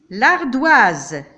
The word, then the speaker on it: l'ardoise: L'ardoise. Ici, le S est placé entre deux voyelles. Je le prononce comme Z.